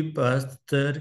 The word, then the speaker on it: Pasteur: lecture number है यह Louis हम आमतौर पर पढ़ते हैं पासर जब हम उर्दू में इसकी प्रोनंसिएशन करते हैं लेकिन फ्रेंच में लुई है एस साइलेंट है और पास्ट इसके एजेक्ट प्रोनंसिएशन है तो यह किसी तरह